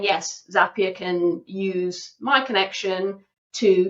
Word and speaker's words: Zapier: get my head right in saying Zapier, not Zapier. I've been saying it wrong for so many years.